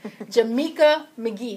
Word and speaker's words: Jameca McGhee: I have with me today the beautiful Jameca McGhee. Is that pronounced correctly?